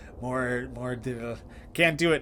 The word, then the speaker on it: mordre: Aye, Cutter, there has been a mordre. What knoweth thou of mordre? Like mordre? You're probably supposed to roll your R a little bit, and I can't roll my R's. Mordre.